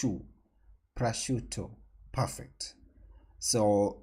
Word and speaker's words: prosciutto: it's pronunciation now so according to google the pronunciation is pressure it's not shutter shu it's you prosciutto perfect so it's some kind of uh from